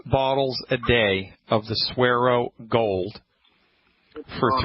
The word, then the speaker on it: Suero: It's called the Suero Cleanse. You spell that S-U-E-R-O.